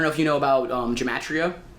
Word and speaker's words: gematria: Like, I don't know if you know about gematria. I don't know if I'm saying it right. It's Gemtria.